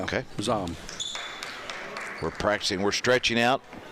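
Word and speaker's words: Zohm: Like Ella, how would you pronounce that? Zom. Z-O-H-M, yeah. Okay. Zom.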